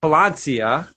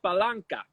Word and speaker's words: Palanca: So that's the Palencia. Yeah, I believe it's pronounced Palanca. Oh, I'm sorry. I didn't. I thought there was an I there.